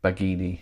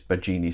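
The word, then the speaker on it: Baggini: If it's any consolation, I'm always called Bagini when it's Bagini, so I'm used to having my own name mispronounced.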